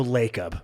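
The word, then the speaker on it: Lacob: WNBA expansion team Joe laob which is the Golden State Warriors owner said stop hold on it's Joe lob please Joe lob that is absolutely not how you say his name and I really need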